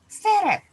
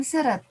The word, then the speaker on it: seret: huruf tulisannya sama seri-3 tetapi kita bacanya seret bukan serat Kenapa karena dalam fonem ternyata serat dan seret memiliki makna yang berbeda kalau tadi tersendat-sendat atau